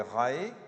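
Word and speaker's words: Rahe: échelle de Holmes et rae rae rae rae comme ça se prononce comme la secte voilà les degrés du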